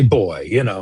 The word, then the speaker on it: buoy: He is with Envoy, or On Buoy, I guess is how you. I'm from Maine, so I say boy. No, it's definitely there's definitely two ways to pronounce it, and both are correct.